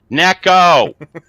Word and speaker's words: Neko: times its neck o neck oh like a little wafer it's just hugs oh